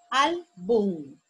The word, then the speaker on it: álbum: Álbum. Álbum. La sílaba tónica es al.